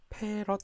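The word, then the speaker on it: 패럿: 그래서 쿨롱 포 볼트가 되는데 이거를 우리는 대문자 F라고 쓰고 페롯이라고 읽게 됩니다. 페롯 그런 것보다는 본래 용어는 이제 페롯입니다.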